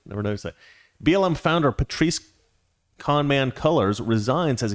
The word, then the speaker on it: Patrisse: police it's funny that her name rhymes with police i never never noticed that blm founder patrice con man colors resigns